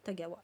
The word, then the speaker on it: Tagawa: si si Karine voilà tomata comme ça se prononce tomata Tagawa je vais vous le mettre attendez voil mat Tagawa voilà et donc c'est confidence